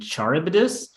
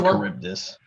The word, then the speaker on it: Charybdis: including Charon and the sea monsters Scylla and Charybdis. Pronunciation Scylla and Charybdis.